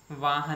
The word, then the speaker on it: Vaughan: बहुत famous quote है वाहन की। कई लोग उसको वोगन भी बोलते हैं, VAUGHAN स्पेलिंग लिखी जाएगी इंग्लिश में।